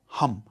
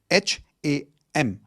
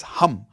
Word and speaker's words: HAM: The 5th chakra is your throat chakra, which is sound of hum, H-A-M. It's not ham, okay? It's hum. Like how you would say H-U-M, that's the pronunciation, hum.